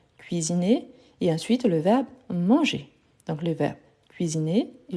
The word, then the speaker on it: mange: Il mange. Parfait. N'oubliez pas, on ne prononce pas ENT. Donc, il mange.